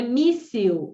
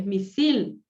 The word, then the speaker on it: misil: Não é míssil, é misil.